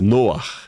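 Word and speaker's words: Noach: Noar, ó, até o até a pronúncia Noar é, né? Lembra RAR em hebraico que é vento.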